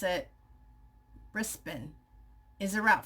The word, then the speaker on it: Brisbane: We pronounce it Brisbane.